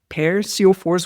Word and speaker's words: Per Sjofors: And today I have got Per Sjofors with me. And if I was to pronounce his name in Swedish, you would not recognize it. So that's the anglicized version of his name.